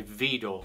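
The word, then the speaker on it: Widor: is the takata by vidor french composer video that's spelled w-i-d-o-r-v door um this is fast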